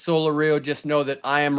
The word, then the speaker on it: Solorio: It is Val Solorio, and they have it wrong. They have it Solorio on the pronunciation guide.